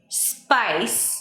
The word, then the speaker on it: spice: Spice. Spice. Not. How would some Spanish speakers say it? Spice. Spice. Spice. Right. No E before an SP.